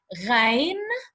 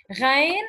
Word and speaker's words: غين: What we're going to do now is that we have to know that this is the letter Ghain, and we pronounce it Gha, okay? Ghain, and we pronounce it Gha.